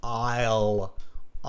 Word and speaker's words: I'll: Okay, I'll. It's like the IELTS, I'll without the S. I'll. Can you say IELTS? Now take out the S.